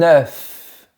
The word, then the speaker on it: œuf: Un yaourt, un œuf. Remarque que ma bouche est bien verticale comme pour le mot bœuf. Imagine un rectangle vertical et prononce bien la lettre finale F.